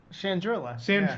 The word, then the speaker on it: Chandrila: Chandrila.